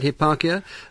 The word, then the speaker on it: Hipparchia: he was wooed by a virtuous maiden called Hipparchia. Is that how I pronounce it? That's right, That's yes. right, Hipparchia, a wealthy, virtuous, young maiden.